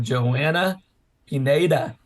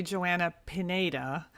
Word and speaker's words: Joanna Pineda: Today we have Joanna Pineda.